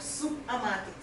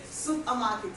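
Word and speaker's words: Soupermarket: She's the head cook and founder of Supermarket. Yes, I pronounced it correctly, Shay. Supermarket. Ordinarily, you may want to call it supermarket, just like your supermarket, but this time around it's soup.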